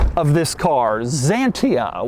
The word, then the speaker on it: Xantia: name of this car Zania which obviously is spelled with an X and is weird it